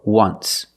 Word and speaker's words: once: this example just once but you say there's an o in once that's a vowel but phonetically it's not a vowel phonetically it makes the sound ww like a w ww once so phonetically the t